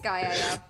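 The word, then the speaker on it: Skaia: It's Skya, Yeah.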